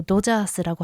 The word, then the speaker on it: ドジャース: 그리고 지금 다저스, 요 도자스라고 하는 것도 다 발음을 이게 DO 스펠링이기 때문에 도자스라고 하고 있습니다. 다저스에 지금 일본인 선수 3명이 가 있는데요.